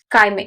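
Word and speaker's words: chyme: होता है उसको हम लोग क्या बोलते हैं काइम ठीक है तो यह बहुत इंपॉर्टेंट क्वेश्चन है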